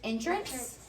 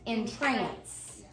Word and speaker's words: entrance: be pronounced two ways it can be pronounced entrance and it can be pronounced in trance and so that is